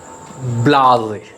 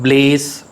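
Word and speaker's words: blasé: next word v-l-a-s-e it's blase blase it's not blaze or blast it's blase unimpressed with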